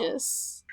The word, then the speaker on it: aegis: say about the other one anyway it is egis there's a pronunciation guide on this one I'm just happy that there's a pronunciation I knew that it was egis so I'm just glad I read the pronunciation